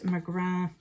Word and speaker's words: McGrath: I have the Pat McGrath Labs. I know I say it wrong every time. It's because if it's MCGRATH here in Ireland, it's McGrath.